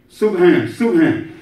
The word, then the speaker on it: subhan: And just so you'll know in pronunciation, when you say subhan, it might sound like a P, right? There's no P in Arabic. So it sounds like sub. But it's sub, like submarine, sub sound, sub, S-U-B, substitute, right?